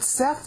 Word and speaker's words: Seth: set, and that's what Seth means. Set. See, Seth means appointed. In English, it's pronounced set.